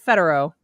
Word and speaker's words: Federow: And our guest today is Kara Federow. Did I say it right? Woo-hoo. Yes, you did.